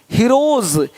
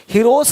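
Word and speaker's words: heroes: जैसे कि यहाँ पे रूप्स, यहाँ जा साउंड नहीं आएगा, लेकिन यहाँ पे एक्स नहीं एग्स। हीरोज, हीरोस नहीं, देख रहे हो, रुपीस नहीं रुपीज, ज का साउंड आ रहा है हल्का सा।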